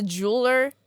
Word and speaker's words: jeweler: Uh, especially the jeweler. I didn't quite jeweler. Yeah, two syllables. Jeweler. Jeweler.